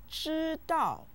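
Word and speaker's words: 知道: if you know something the word shitao means no it's said with the first and the fourth tones listen cheeto cheeto cheeto now say it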